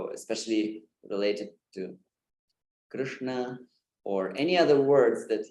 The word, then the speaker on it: Krishna: So I should say that even if I say now Krishna, my tongue does go down, but it doesn't influence the pronunciation because you already have said the sound. And my tongue is down there, but I stopped speaking. The word is over. The name is over. So it doesn't really matter what the tongue does after.